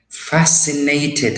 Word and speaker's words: fascinated: Fascinated, and look how we say it, how we pronounce it. Fascinated. So it has and C, we say them fasci, then I come with I, fascinated, right?